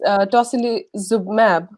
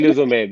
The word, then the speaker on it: tocilizumab: there is a drug, particularly, if I pronounce it correctly, it's tocilizumab, if I pronounce Yes, it correctly. tocilizumab.